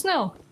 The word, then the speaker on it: snel: So remove one L from that word, and then you have the Dutch word for fast. And funnily enough, it's pronounced snel, as in called the very slow creature.